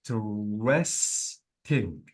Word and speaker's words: interesting: all the vowel letters so notice that I said in interesting so I completely deleted the vowel letter as well say this is the